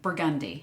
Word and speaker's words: Burgundy: burgundy right that's true in New Orleans we say burgundi right M so we